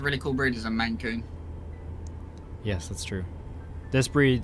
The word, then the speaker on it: Maine Coon: Mancoon? Yeah, no, it is pronounced Mancoon. Or is it Maine Coon? It's Maine Coon, isn't it?